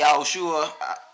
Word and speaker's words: Yahushua: But we say Yahushua because we know that in his original language, which was Hebrew, that's how you would pronounce his name.